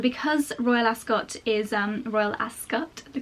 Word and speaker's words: Ascot: And because Royal Ascot is, Royal Ascot, the correct pronunciation, is mostly outside, it's not really the kind of place where you go with a really full face of makeup.